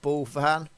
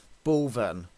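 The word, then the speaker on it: Bulphan: It is suspect because, well, Mick says he's here in this place called Bullfan. Actually, I've been corrected and somebody's told me that you pronounce Bullfan Bullven.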